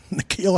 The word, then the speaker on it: Nikhil: 49ers Nikhil Harry and is that pronounced in the keel like nickel Nikhil Harry why you see